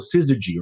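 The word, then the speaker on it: Syzygy: and Hong but before that it was called siy right am I pronouncing it right that's correct and then computer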